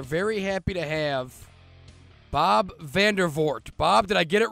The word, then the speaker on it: Vandervoort: mentioned we are very happy to have Bob vandervort Bob did I get it right Dave you got it right yeah it's a it's pronounced vandervort it's one of those complicated Dutch names but